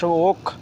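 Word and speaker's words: walk: ওয়াক প্রত্যা মানে হাঁটা এখন সেটাকে উচ্চারণ ওক ওক ডব্লিউ এ এল কে ওক হচ্ছে হাঁটা ওক ডব্লিউ এল কে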